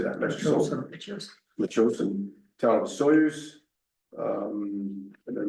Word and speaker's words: Metchosin: Metchosin, town of Soyuz.